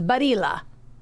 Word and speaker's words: Barilla: Well, yeah, you're gonna, as I said, you're gonna want to say the L because it's not Spanish. Right. So the double L is barilla. Ah, right, Badia. I've always said Barilla, and I think that's how it's pronounced.